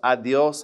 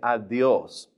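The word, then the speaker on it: adiós: Now, notice adios has an accent on the O. And also, that D is going to be a little bit forward, too. Push your tongue a little bit forward and say adios.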